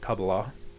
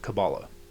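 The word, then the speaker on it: Kabbalah: You can also pronounce it Kabala. I pronounce it Cabala because of the Cabal.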